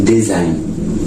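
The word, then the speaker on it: design: आपका साइलेंट होता है ठीक है जी आपका साइलेंट होता है जैसे की डिज़ाइन ठीक है डिज़ाइन देखिए एन से पहले ठीक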